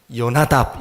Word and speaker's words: 여호나답: 근데 이 호라고 발음하는 가 이게 그냥 지나가는 발음이에요. 여호나답, 여호나답, 우리 가래 뱉을 때 하잖아요, 그죠? 그 발음이에요. 해라는 히브리어 알파벳이거든요. 근데 여호나답이에요. 여호나답. 그래서 이 발음을 우리가 실제로 이스라엘 사람들이 하는 발음을 들어보면 요나답 이렇게 들려요.